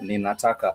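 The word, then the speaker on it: ninataka: If actually someone is telling me that they want something, they would say nina taka n i n a nina and then t a k a taka naka.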